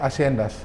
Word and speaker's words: haciendas: Lalu juga berpuluh-puluh tahun, ratusan tahun di Amerika Latin yang namanya tulisannya haciendas tapi bacanya haciendas.